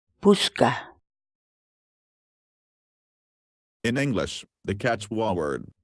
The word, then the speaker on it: puchka: series videos where we teach you how to pronounce certain words in Quechua. So our word of the day for today is puchka, puchka, puchka.